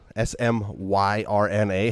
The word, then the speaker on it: Smyrna: is thank you we thank you um smyrna s-m-y-r-n-a hell of a hell of a name to try to pronounce but smyrna which it could be delaware